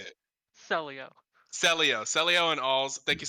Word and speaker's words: Celio: Celio.